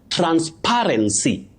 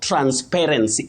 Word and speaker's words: transparency: Now the third word is transparency. Transparency international not transparency. Many people end up saying transparency or they like saying transparency because maybe it sounds unique. But when we go for the standard pronunciation or the correct or accurate pronunciation of that word, it's simply transparency.